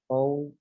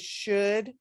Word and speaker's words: should: What should Alicia do? Yes, that word is should.